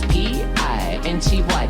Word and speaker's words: Pinty: Just say my name properly, it's P-I-N-T-Y, that's P-I-N-T-Y, that's P-I-N-T-Y, it's Pinty, and tonight we're getting lively, yes, I might be.